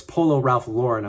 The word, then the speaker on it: Polo Ralph Lauren: It's Polo Ralph Lauren.